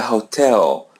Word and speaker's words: hotel: Let the letter H come in the beginning. So, it's silent. We don't pronounce it.